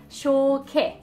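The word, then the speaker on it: شوكة: So شوكه, شوكه. It has the K and the T marboota at the end, so the pronunciation of the circle T was a E, شوكه.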